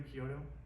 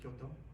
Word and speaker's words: Kyoto: Nature influenced by that is that if you go to Kyoto, or Kyoto, sorry, if my wife is here, she'd be like, "Hey, give me the look."